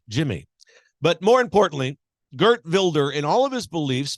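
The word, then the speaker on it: Wilders: a gentleman there by the name of Gert vilder spelled like we would in America pronounce Wilder but it's vilder Gert vilder he's the new president of the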